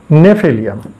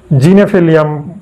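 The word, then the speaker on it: Gnaphalium: নাম হচ্ছে নেফিলিয়াম এখন নেফিলিয়ামের বানানটা কিন্তু বড় পিকুলিয়ান জি এন এ পিএইচ হ্যাঁ এল আই ইউ এম অর্থাৎ কিনা জিনেফেলিয়াম বা গেনেফিলিয়াম বা এরকম উচ্চারণটা একচুয়ালি হওয়ার কথা কিন্তু না এখানে জির উচ্চারণটা নেই বোতলের গায়ে যে নামটা লেখা থাকে দেখবেন প্রথমে জি আছে তারপরে এন এচ এরকম আছে অর্থাৎ কিনা জির উচ্চারণ নেই শুধু নেফিলিয়াম শব্দটা আছে বুঝতে পারছেন তাহলে জেনে রাখুন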